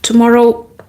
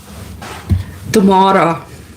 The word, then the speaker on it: Tamara: Okay, tomorrow. That's how some people say my name in South Africa.